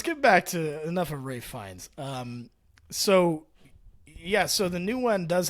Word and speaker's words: Ralph Fiennes: It says the name Ralph Fiennes is pronounced Rafe Fiennes. So with the Ralph pronounced like Rafe, rhyming with safe, and the Fiennes pronounced like Fines, rhyming with lines.